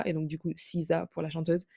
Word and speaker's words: SZA: Ça se prononce Riza et donc du coup, SZA pour la chanteuse.